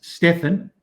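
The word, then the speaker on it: Stephan: bass my twin brother that's stefan that's how that's pronounced s-t-e-p-h-a-n he's he's a bass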